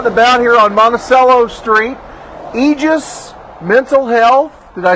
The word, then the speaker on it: Aegis: we're out and about here on monacello Street egis Mental Health did I say it right Tammy